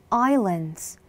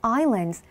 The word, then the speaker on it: island: 118 small islands. 118개의 작은 islands, 섬으로. 우리 많이 연습했었죠? island 아니에요. s가 묵음이어서 island.